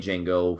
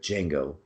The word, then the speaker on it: Django: your name he's like Django he's like how do you spill it DJ a NGO did the the D is silent he's like I know